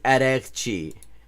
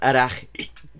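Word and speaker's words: Araghchi: It's Araqchi. It's not actually that hard to pronounce. Araqchi. Like, the only thing in there that is complicated for an English speaker is g, and if you just say g, you know. But, like, it's not Araqi.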